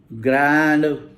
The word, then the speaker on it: Grand: आपको पता है कि अब जहाँ ग्रैंड होता है वो ग्रॉ है.